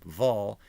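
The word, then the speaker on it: Wol: to be the surname Vol is spelled with a V but doing more research is generally is spelled with a W which of course in German is pronounced as a v sound it's not clear from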